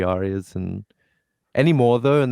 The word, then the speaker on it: ARIA: Do you guys pronounce it Aries or Ari or Aria? Ari. Wait, what? Aria? The Australian like music awards thing. Oh yeah, it's Aria. Yeah.